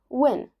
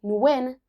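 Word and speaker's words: Nguyen: to know is that in its native Vietnamese, this is a single syllable. So, how is it actually said? Well, it varies by region in Vietnam. But a great approximation for English speakers, especially with a common southern accent, is simply when. Yep, you heard it. Like uh like you win a prize. Some will say win to get more of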